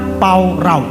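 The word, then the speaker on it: פָּרָה: Kata beranak cuculah itu aslinya parah, pengucapannya paurau.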